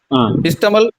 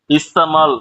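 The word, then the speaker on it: इस्तेमाल: இதுல இஸ்தமால் அப்படின்றதுல double A போட்டிருக்கேன். 2 ஏ போட்டிருக்கிறதுனால அதுக்குண்டான உச்சரிப்பு கொடுக்கணும். இஸ்தமால் இஸ்தமால். ஏ கொஞ்சம் உச்சரிப்பு இன்னும் கொஞ்சம் சவுண்ட் ஜாஸ்தியா கொடுக்கணுங்க. நீங்க படிச்சது இஸ்தமல் அப்படின்ற மாதிரி இருந்தது. இஸ்தமால் கொஞ்சம் உச்சரிப்பு ஜாஸ்தியா கொடுங்க.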